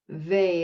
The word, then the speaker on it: Weil: got it um yeah so simone vey is how they pronounced it but it's spelled w-e-i-l so it's a francophone name and i may be